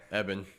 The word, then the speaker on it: Ebon: And we've got Evan Moss Backrack.